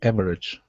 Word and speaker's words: average: average a little below average okay now with average instead of saying average okay switch it to two syllables average a little below